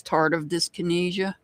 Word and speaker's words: tardive dyskinesia: It's tardive dyskinesia. Just so you know. I know it looks like tardive.